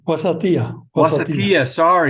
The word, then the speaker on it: Wasatia: Hopefully, did I pronounce that correctly? I just corrected it. That's okay. Wasatia.